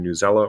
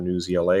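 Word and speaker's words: Newsela: earthquakes hitting puerto rico from new zela or news ela if you prefer that pronunciation and then they actually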